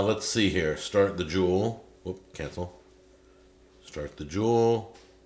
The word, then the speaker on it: Joule: there it is it's j-o-u-l-e that's how they spell it not like a diamond or gold or silver or whatever uh let's see here start the jewel whoop cancel start the